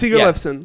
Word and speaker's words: Sigurleifsson: work, it's just that I am the son of someone called Sigurleifur, and my dad's name is like rare as shit back there.